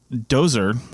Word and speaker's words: Djoser: Anyway, King Dozer was and it's spelled Djoser, and I always remember